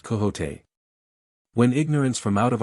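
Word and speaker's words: Quixote: Misfortune to know that the gentleman's name is pronounced coot when ignorance from out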